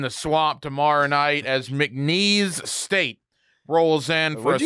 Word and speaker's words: McNeese: McNeese, as in like knees? I don't know. How do you pronounce it? McNeese. McNeese.